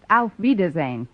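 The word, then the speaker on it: auf Wiedersehen: very nice kind stretch actually the word you have in mind is pronounced out wiedersehen whoa why never was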